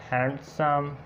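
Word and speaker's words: handsome: इसको हैंडसम पढ़ना है, हैंडसम नहीं पढ़ना है, हैंडसम।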